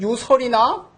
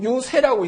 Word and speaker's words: 유세: 그 다음에 달래다라는 의미로 쓰인 경우는 달래다 세자일 때는 유세는 논류자에다가 이 글자를 써가지고 이거를 유설이나 유열이나 이런 거 읽지 않고 유세라고 읽습니다.